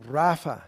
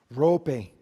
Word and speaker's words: Rafa: Yo lo voy a pronunciar como rafa, no rope, pero rafa es normalmente la pronunciación, por lo menos en inglés.